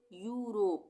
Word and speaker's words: Europe: जैसे EUROPE, यहाँ पे EU एक साथ आ रहा है स्टार्टिंग में, तो इसको हम क्या पढ़ेंगे, यूरोप, यूरोप नहीं पढ़ेंगे, यूरोप पढ़ेंगे।